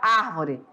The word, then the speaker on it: árvore: E nesse caso, ela é uma proparoxítona e já está acentuada, então não tem erro nenhum. Fica a pronúncia num tom forte.